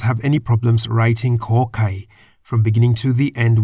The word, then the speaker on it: ข ไข่: The Thai consonant Kor Kai sounds like a K at the beginning and end of a syllable.